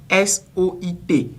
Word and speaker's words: soit: Il s'agit de la prononciation du mot S-O-I-T. On dit souvent « soit », on ne dit pas « soit », on dit « soit ».